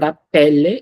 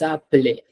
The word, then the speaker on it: appeler: It's not appelle, it's appelé. Appelé. Appeler. Okay. I said those sounds differently because I wanted you to understand there are three syllables, but when we say them together, it's almost like we're saying two syllables.